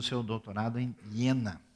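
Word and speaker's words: Jena: o seu doutorado em iena que se escreve com J mas se se fala yena em alemão e é interessante que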